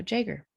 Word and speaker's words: jaeger: the yeah the jager jaguar i think no jaeger and the siskin had virtually disappeared by the way jaeger is spelled g-a-e-g-e-r if you want to look that